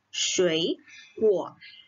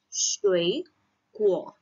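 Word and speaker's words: 水果: 水果. Jika teman-teman masih ingat, kalau misalnya nada 3, ketemu nada 3, maka nada depannya menjadi nada 2. Makanya kita bacanya adalah 水果.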